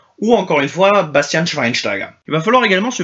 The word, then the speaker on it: Schweinsteiger: du CH d'un côté le sch se prononce che comme chez le milieu de terrain de Manchester United Bastian Schweinsteiger ou Bastian Schweinsteiger et sûrement pas sweinsteiger le C quant à lui